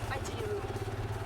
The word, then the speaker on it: Pajero: Hindi pajiru. Paji pajiru. Kailangan ipronounce mo ng ganon. Sige nga ulitin mo ako. Pajiru. Pajiru. Pajiru. Kasi pag sinabi mong pajero hindi ka maintindihan.